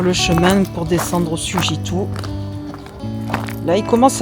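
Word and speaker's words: Sugiton: Sujitou, pardon, je le prononce bien, qui est à Marseille.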